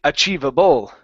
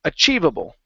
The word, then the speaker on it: achievable: so you had said achievable okay a accenting in the middle as well as the end we only want to Accent on the chi part okay so it's achievable achievable okay one more